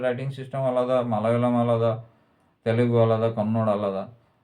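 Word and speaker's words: മലയാളം: যেমন তামিল বা মালায়ালাম, এগুলো ইংরেজিতে লেখার ফলে ভাষাগুলোর নামই পরিবর্তন হয়ে যাচ্ছে। মালায়ালাম অ্যাকচুয়ালি উচ্চারণ মালায়ালম, মানে সেকেন্ড লটা অর্ডার মতো উচ্চারণ হয়, কিন্তু সবাই বলে মালায়ালম।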